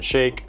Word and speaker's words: Shaikh: If you do plan to get either a Lifetime or an Equinox membership, make sure to mention my name is SHAIKH. It's spelled S-H-A-I-K-H, like milkshake.